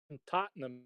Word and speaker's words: Tottenham: of it it's herbs there's an h in the tottenham but you don't pronounce that for birmingham i could